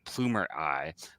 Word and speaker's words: Plumerai: He studied astrophysics in university and then entered the workforce at Mozilla and now at Plumer AI, which is spelled Plumerai.